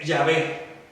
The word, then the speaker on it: Yahvé: Y es el tetragrama lo que está ahí, que nosotros no pronunciamos. O sea, Yahvé.